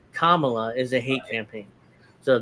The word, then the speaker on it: Kamala: mispronounce their name but I'm guessing Kamala is the right way to pronounce it not Kamala it's a hate campaign